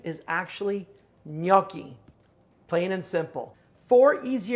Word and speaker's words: gnocchi: so what do you call it jinaki i'll tell you the proper pronunciation is actually gnocchi plain and simple four easy ingredients are what